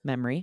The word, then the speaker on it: memory: I think you probably said it two syllables. Memory. Yeah, probably. That smells a memory in itself. Memory. Oh, it's kind of three there, isn't it?